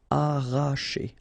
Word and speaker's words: arracher: Okay, don't pronounce the double R, sorry, it's just like if you would have only one. Arracher.